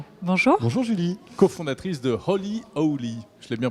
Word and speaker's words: Holy Owly: Cofondatrice de Holy Owly. Je l'ai bien prononcé?